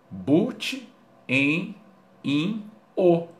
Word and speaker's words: butenino: But, en, in, o. Tá? É só somar. Ou seja, no português a gente vai pronunciar butenino.